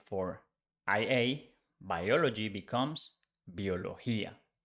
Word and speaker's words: biología: If we change Y for IA, biology becomes biología. Again, bio, the pronunciation changed for bio, bio, but the spelling is the same.